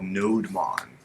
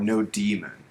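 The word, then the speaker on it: nodemon: future here it's called node Hmong or no demon depending on how you pronounce it yeah so basically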